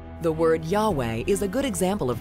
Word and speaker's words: Yahweh: scripture they are in actual translations or even pronunciations the word Yahweh is a good example of that Yahweh is God it's the god of the Jews